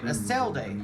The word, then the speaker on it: Eselde: That's how you say her name, Eselde.